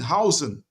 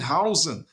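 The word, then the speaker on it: Huijsen: Dean hoisen excuse me Dean hoisen pronounced house with an okay see Dean Howen Howen Dean Howen thank you met footballs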